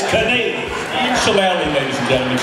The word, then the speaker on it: Kanaly: It rhymes with shillelagh. It's Kanaly.